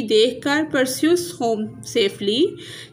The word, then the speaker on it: Perseus: Next है pronunciation guide, जैसे ये डेने, ऐसे परस्यूस, पर सीऊस, पोलिडिक्टस, पोलिडिक्टस, मेडूसा, मेडूसा, एंड्रोमेडा, एंड्रोमीडा, ऐसे डिक्टस, डिक्टिस।